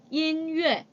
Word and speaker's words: 音乐: 音乐. 音乐. 자, 이 발음할 때 여러분들 첫 번째 단어의 끝에 모음이 n으로 끝나고요.